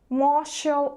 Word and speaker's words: martial: Martial arts. Обратите внимание, martial, то есть здесь буква TI читается как звук Ш.